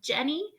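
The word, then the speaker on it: Djenné: city of Jenny again the city is pronounced Jenny the D is silent and one of the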